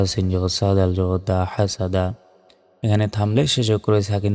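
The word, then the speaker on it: حَسَدَ: হা scene জবর সাব হাসাদা এখানে থামলে শেষে করে সাকিন দিয়ে উচ্চারণ করতে হবে আর কফ বা জিম দালের পাশের উপর সাকিন থাকলে ধাক্কা দিয়ে পড়তে হয় উচ্চারণটা হবে হাসাদ ধাক্কা দিয়ে শেষে হাসাদ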